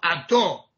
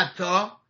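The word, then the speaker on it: אתה: بنابراین اینا مثلا میگن باروخ اتو، نه اتا، اتو.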